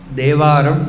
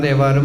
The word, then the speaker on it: ദേവാരം: തിരുനാവുക്കരശർ ദേവാരത്തിൽ ദേവാരം എന്നാണ് വാക്ക്. ഞാൻ വിചാരിച്ചു നമ്മൾ തേവാരം പറഞ്ഞതുകൊണ്ട് തമിഴിലും എല്ലാവരും തേവാരം എന്ന് പറയും, തേവാരമാണെന്ന് വിചാരിച്ചു ഉച്ചാരണം. പിന്നെയാണെന്ന് അറിഞ്ഞു തേവാരമല്ല, ദേവാരാണ്. എന്താണെന്ന് വെച്ചാൽ ദേവഹാരം, ദേവന് അർപ്പിക്കപ്പെടുന്ന ഹാരമാണത്. അപ്പം അത് ദേവാരം എന്ന് പറഞ്ഞു. അപ്പോൾ ദേവാരമാണത്, തേവാരമല്ല.